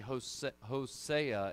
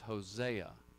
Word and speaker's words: Hosea: But actually, Hosea is the correct pronunciation, because our Old Testament books get their name from the Greek. And the A sound there is the Ada, and so it's Hosea.